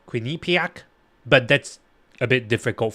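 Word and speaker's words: Quinnipiac: you look at uh Kinny pack University I I was reminded it's called quinac but that's a bit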